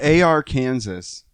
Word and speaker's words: Arkansas: Happy AR Kansas. AR. It sounds like a mix of like AR-15 and Kansas. AK-47 and Kansas.